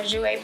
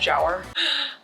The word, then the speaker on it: Jouer: powder blush this is another jouer palette not pronounced jower i'm so cultured oh